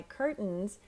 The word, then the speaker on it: curtains: you sound more natural so my curtains curtains see the tea almost disappears my curtains have polka